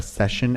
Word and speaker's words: Seshen: They're called The Session, and Session is spelled SESHEN. Like Sesh. Yeah, like Sesh.